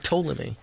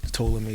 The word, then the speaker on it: Ptolemy: Like Ptolemy. Anyway, okay. What Ptolemy is. Yeah, the P is silent.